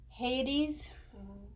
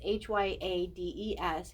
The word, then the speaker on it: Hyades: and more primarily hades again i apologize if i say it wrong i'm really still trying to learn how to say these um hadium beings is what they would be but uh it's h-y-a-d-e-s hate hyades okay and this is when